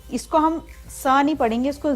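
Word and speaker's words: zehn: तो ये हमारा जेन नहीं है, इसका प्रोनाउंसिएशन है सेन, क्योंकि जेड जो है वो ई के साथ मिल गया तो उसकी साउंड स होगी. तो इसको हम बोलते हैं सेन. सेन होता है 10.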